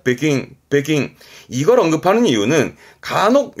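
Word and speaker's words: 北京: 참고적인 사항이에요 요거 북경이 중국에서도 베이징을 말하는 일본에서이 발음을 베킹 이때는 킹 발음입니다 베킹 베킹 이걸 언급하는 이유는 간혹 요런게 보이 있습니다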